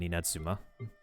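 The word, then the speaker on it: Inazuma: Apparently, the pronunciation is like there's a hard pause in between when you're about to say the Zuma part. So, the hard pause will have you turn the Z into a J.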